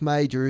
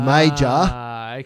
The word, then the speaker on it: Mauger: But, yeah, the reason it's pronounced major is because during the war, it sounded too German, and we're on the other side, so they changed the pronunciation from Mauger to major.